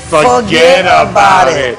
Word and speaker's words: Fuhgeddaboutit: So now, how's it phonetically? Forget about it.